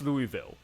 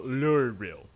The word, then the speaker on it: Louisville: and it's like what it's like they're swallowing their own tongue I'm just so confused